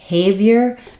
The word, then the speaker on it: behavior: the word Behavior so this is an example of when we have second syllable stress Behavior then our first letter e is not going to be an e not Behavior but it's going to be reduced to an i Behavior so um same vow